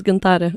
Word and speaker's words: Gintare: And with me today on the subject of immigration, I have Gintare. Is that well pronounced? Yes, it's Gintare.